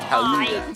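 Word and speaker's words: Gouda: And yes, it is pronounced Haluda.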